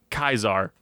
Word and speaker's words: Caesar: it was a dictatorship under Caesar or how they say it in the game a lot kaisar so Joshua was second